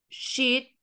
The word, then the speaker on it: sheet: Y acá tenemos, por ejemplo, sheet, que tiene dos E, y estas dos E se pronuncian como una I.